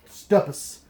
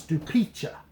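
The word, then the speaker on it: Stupice: You want to think that is pronounced Stupus, but it's Stupiccia. Stupiccia.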